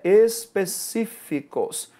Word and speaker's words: específicos: E a segunda palavra é específicos. Qual é a tonicidade da sílaba e qual é a sílaba tônica, né? É o si, ou seja, nós temos aqui também uma proparoxítona.